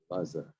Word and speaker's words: Elazar: Elazar.